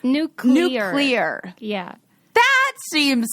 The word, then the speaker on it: nuclear: do that to me i still don't nuclear that is no that is that's not it right it's new clear yeah that seems like